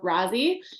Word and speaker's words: Rozzie: it for us please it's um but if you find me anywhere we just go with razie in the business because it's way easier it's way easier so